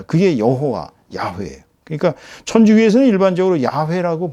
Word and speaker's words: 여호와: 여호와. 이걸 이제 영어로는 제호와라고 읽지만 어 히브리어로 원어은 여호와입니다.